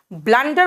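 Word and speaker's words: blunder: इट वास अ ब्लंडर ब्लंडर बोलते हैं यू लिखते हैं लेकिन यू का प्रोनंसिएशन जो है वो यू नहीं होगा यहां पर अ होगा इट वास अ ब्लंडर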